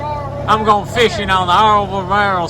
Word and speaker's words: Albemarle: Well, because it is spelled ALBEMARLE.